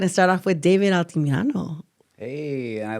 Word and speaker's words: Altamirano: I've got ALTAMIRANOoo. Oh, really? Like they do the A. You know, they really pronunciate the fucking A. I'm like, no, it's ah.